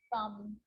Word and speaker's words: thumb: It's always silent when it follows the letter M. Climb, crumb, lamb, thumb, dumb, and plumber. So practice them with me. I'm not pronouncing the B, I'm just pronouncing the M consonant sound.